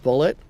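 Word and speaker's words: Bulleit: I think it's pronounced bullet but it's like bullet like I thought it was French it is just bullet yeah the that it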